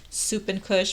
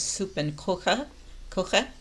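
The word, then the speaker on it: Suppenküche: how to pronounce it i thought it was like soup and kush but now it's uh pronounced i guess soup and coca coche like something cooking or kitchen and they're big on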